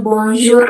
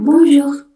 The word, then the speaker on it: bonjour: Itu huruf R terakhir. Kenapa aku kasih underline di situ? Karena huruf R terakhir itu dibacanya cuma samar-samar aja, bukan bonjour R-nya bold, tapi kayak bonjour, seperti itu.